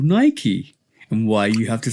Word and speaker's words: Nike: But what you have to realize with the company Nike, and this is why I now call it Nike rather than Nike, is based on The Greek goddess god.